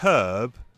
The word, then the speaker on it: herb: But the word herb and the word human, don't say herb and human. Herb. What's wrong with pronouncing that H?